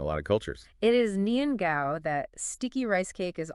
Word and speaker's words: nian gao: It is nian gao, that sticky rice cake is all about progress and prosperity. The gao in its name sounds like the word for high or tall.